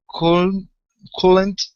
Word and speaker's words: couldn't: So instead of coolant, okay, the L is silent. We're only going to pronounce the D and the N. Okay, so it's couldn't.